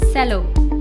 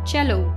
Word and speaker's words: cello: played under the jaw very often people mistakenly pronounce this word as sello we could see he L tell you pronounce